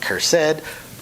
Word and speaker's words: Kursed: i would actually recommend jack cursed with a k pronounces it cursed jack cursed he is